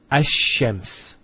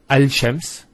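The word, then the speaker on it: الشمس: close what happens is this lamb is not pronounced and what happens instead is the Lamb is pronounced as a Sheen so there's a actually a shed there here so it's hashems not al-chems which notice when you say al-chems it's not smooth rather than as shems which flows and is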